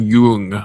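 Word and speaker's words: Jung: His name is Carl Yung. There's an umloud over the Y. I'm not going to pronounce it Yung. That's well with J.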